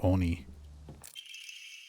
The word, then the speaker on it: oni: But one of the first things you ever corrected me on was my pronunciation of the word oni.